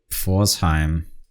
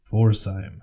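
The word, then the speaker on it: Pforzheim: gonna let you say that one uh FC forzheim forzheim yeah you spell that P fo r z h e i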